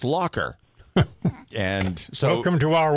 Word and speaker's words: Lacher: It was actually pronounced Lacher. And then come to find out it's not Lacher or Lacher, it's Lacher.